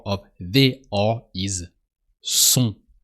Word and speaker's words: sont: With they, if you want to say they are, the R of they are is sont. So S-O-N-T, but the T is silent. So you just say sont.